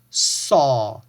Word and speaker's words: saw: Here, pay attention to this A sound here because this sounds like aw, all right? So it's saw, saw.